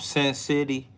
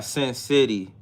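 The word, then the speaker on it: Sen City: Name of the song is right here by Sin City. It's spelled how it sound. S E N city all together.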